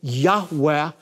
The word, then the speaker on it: Yahweh: god of Israel which most Semitic scholars believe is pronounced a breathy Yahweh a living active form